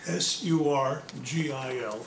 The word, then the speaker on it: Surgil: S-U-R-G-I-L, pronounced Surgil.